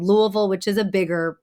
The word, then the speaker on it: Louisville: bigger like metropolitan area Louisville yeah that's you said it like somebody from there though because I would say Louisville that's right Louisville or Louisville yeah Louisville we slur it together but so I guess